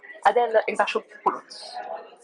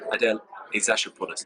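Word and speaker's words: Adèle Exarchopoulos: Adele Exarchopoulos. That's a brilliant pronunciation. Adele Exarchopoulos.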